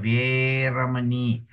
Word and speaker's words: veramani: Then the word here, she has given us an example of veramani, veramani, veramani. Ve is a long e, okay?